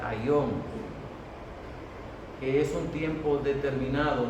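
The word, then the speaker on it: αἰών: Y cuando habla de fin del mundo, esa palabra fin es una palabra que en griego se pronuncia aion, que es un tiempo determinado, no el fin de todo el mundo como nosotros lo conocemos.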